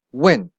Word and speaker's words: 问: Try to pronounce it as the fourth tone. 问, fourth tone.